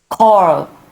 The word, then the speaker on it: choir: How do we pronounce it? Choir, Choir.